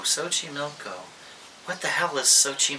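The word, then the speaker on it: Xochimilco: you're thinking to yourself sochi milko sochi milko what the hell is sochi milko it's this milko so the x is pronounced sometimes in spanish with sort of an s sound i don't know enough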